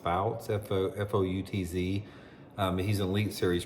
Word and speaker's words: Foutz: I think his name is Jacob, and I believe his last name is pronounced Foutz, F-O-U-T-Z.